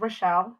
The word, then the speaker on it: Rachel: me introduce myself uh my name is rochelle spelled like rachel um and i am